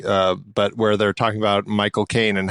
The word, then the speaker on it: Michael Caine: where they're talking about Michael Caine and how you say his name is you say my cocaine, and that's like how he says his name.